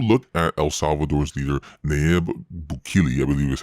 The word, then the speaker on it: Nayib Bukele: If you look at El Salvador's leader, Nayib Bukele, I believe is how you say it, when